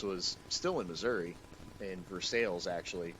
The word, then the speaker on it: Versailles: still in missouri in versailles actually which uh is spelled versailles but pronounced for sales it's missouri it's america